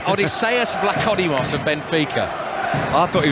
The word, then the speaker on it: Vlachodimos: You know, I mean, you're the expert at these Greek pronunciations, you know, Ali. We've hardly mentioned the keeper's name. Yeah, Vlachodimos. Odysseus Vlachodimos of Benfica.